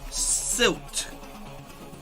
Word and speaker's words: Silt: Question mark saying, and the game is pronounced silk, but with a T. Silt.